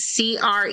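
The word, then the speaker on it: croí: meaning no noble honest cre c o r o i pronounced c r e e cre it means heart it's Irish I'm part Irish Creek cat.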